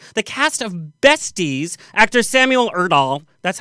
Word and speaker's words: Samuel Erdahl: Joining us is Billboard charting artist Taylor Olson, the cast of Besties, actor Samuel Erdahl, that's how you say his name, and Braden